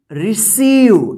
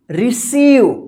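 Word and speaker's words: receive: जैसे एग्जांपल में यहां पे देखिए RECEI, VE, देखिए यहां पे EI एक साथ है ना, तो EI एक साथ है तो क्या उच्चारण होगा? ई। तो इसको क्या पढ़ेंगे? रिसीव, क्या पढ़ेंगे? रिसीव, क्या पढ़ेंगे? रिसीव, ठीक है।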